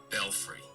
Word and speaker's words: belfry: fiend I'm distracted yeah the American pronunciation is apparently belfry foreign s in like the UK the UK is Belfry yes all Belfry belfry yeah so Belfry is the correct pronunciation all free this